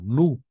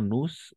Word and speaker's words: nous: Y aquí va a ser igual lo mismo, nu, y no nus, sino solo nu. La S no se pronuncia, entonces nu, excepto si es liaison, ¿no?